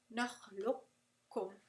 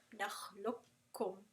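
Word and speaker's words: نقلكم: So naqlukum, naqlukum. Alright? You're not going to pronounce the qaf at all.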